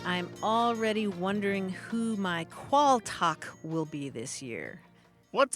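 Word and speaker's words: quaaltagh: t a g h qual talk or in some parts of Britain it's pronounced qual and it comes from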